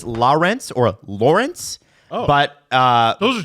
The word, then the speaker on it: Lorentz: Now, to pronounce it properly, it's Lorentz or Lorentz. Oh. But Those are 2 different pronunciations. it's more like Lawrence as in the river or the waterway. But people call him Lorentz, and he's fine with that.